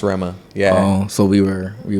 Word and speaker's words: Rema: that's how it's pronounced it's actually pronounced Rama yeah so we were